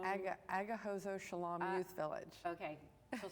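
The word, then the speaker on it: Agahozo-Shalom: Now there's another one called, I want to make sure that you help me with these pronunciations, that they're correct. Is it Aganzo Shalom? Agahozo Shalom Youth Village.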